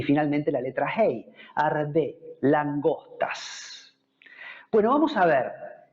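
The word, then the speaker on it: ארבה: Se dice arbe.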